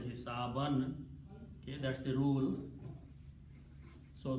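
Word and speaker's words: حسابًا: So and because this is a noun which comes after the verb, so hisabun is pronounced as hisaban.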